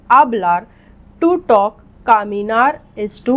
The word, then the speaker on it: hablar: escribir, to write, hablar, not hablar but hablar. H is silent in Spanish. We don't say hablar, we say hablar.